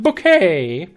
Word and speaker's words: Bucket: to the CEST not it's not bucket it's it is pronounced bouquet so it's one of